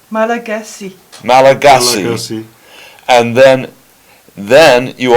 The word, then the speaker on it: Malagasy: and your first language is pronounced Malagasy.